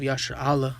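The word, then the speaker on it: ישראל: course the nation of Yasher Allah, which is how you say Israel in the Hebrew.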